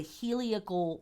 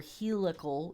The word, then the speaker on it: heliacal: We talk about here on the podcast the heliacal or helical, it's pronounced both ways, the heliacal rising of